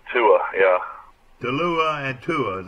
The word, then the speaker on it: Tua: It's Tua, yeah.